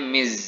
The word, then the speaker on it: Ms: Nah, ini Miss tulisannya MS seperti ini. Pronunciation-nya Miss ya. Dia pakai Z bergetar gitu.